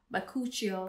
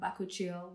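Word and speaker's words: bakuchiol: i want to mention bakuchio or bakuchio whichever way you want to pronounce it so bakuchiel is the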